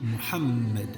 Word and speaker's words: Muhammad: Et le tout se dit Muhammad.